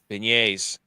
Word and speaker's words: beignet: Beignets. It sounds like Beignets. beignets. It's a soft G.